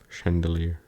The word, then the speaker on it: chandelier: you learned something new if that's with c you just pronounce it with an S Chandelier all right well good